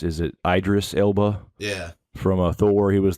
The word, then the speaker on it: Idris Elba: Yeah, I love, I believe it's pronounced, is it Idris Elba?